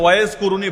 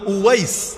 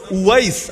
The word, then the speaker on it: উয়াইস: আল কারানীকে চেনেন কে বাংলায় হয়তো ওয়াজ কুরুনি বলেন আর কি আপনারা এটা ভুল উচ্চারণ ওয়াজ কুরুনি নামে কেউ নাই ওয়াজ মানে তো বক্তা ওয়াজ মানে বক্তা এখন উনার নাম কি বক্তা ছিল নাকি বক্তা কারো নাম হয় না উনার নাম হল উয়াইস ওয়াইস আল কারানি কারান হল